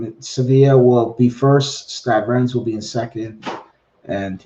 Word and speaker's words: Stade Rennes: yeah, Stade Rennes.